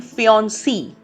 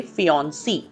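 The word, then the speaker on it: fiancée: तो हम कहते हैं फियोन्सी. सो से और सी सिर्फ उतना उच्चारण में फर्क है. This is a French word, so इट हैज टू be pronounced very carefully. So इफ इट्स a female then you से फियोन्सी.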